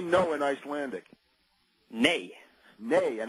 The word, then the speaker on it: nei: Nei. Nei, and how do you spell it? It's N-E-I. Okay, nay. Well, that's understandable over here, right? The yays and nays, and in this case, it's a nay.